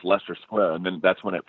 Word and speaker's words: Leicester Square: have to go to I was pointing at what I was pronouncing as Leicester Square, right? Right? Okay. and then somebody was like, "Oh, no, you mean Leicester Square?" And I'm like, "Wait, what are you talking about?" And they're like, "Yeah, no, that's pronounced Leicester Square."